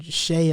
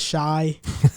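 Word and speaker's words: Shai: Riv is still pronouncing Shay as Shy.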